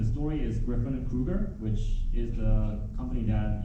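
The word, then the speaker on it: Kryuger: Yeah, it's spelled really weird, but it's not. It's meant to be pronounced as Kruger.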